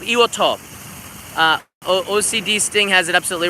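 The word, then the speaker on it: Iwo To: calls it Iwo Jima, and 99% of the Western people know it as Iwo Jima, and in Japan it's called Iwoto. So, yeah, Iwoto is the correct way to say it.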